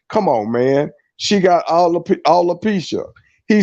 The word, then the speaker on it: alopecia: He ain't saying alopecia, he's saying all the He peaches.